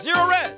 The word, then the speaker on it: Zerorez: give them a call zerorez you spell it forwards or backwards zero res it's the right way